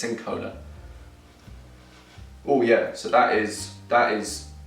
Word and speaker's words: cinchona: It looks like cinchona, but it's Cincona.